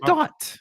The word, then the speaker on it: thought: I said thought. I misheard you. My bad. No, continue. G-H-T. The G is silent, like gangsters move in silence.